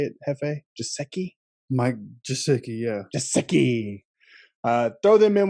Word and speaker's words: Gesicki: Mike Gesicki, yeah.